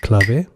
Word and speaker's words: clave: It's spelled as clave if you're English speaking, but the correct pronunciation is clave.